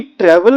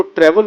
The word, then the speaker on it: tour: तो एनी हाउ, तो travel और टूर के साथ जो जिसको आप टूर बोलते हैं इसका प्रोनाउंसिएशन टूर नहीं होता, इसको टूर बोलते हैं।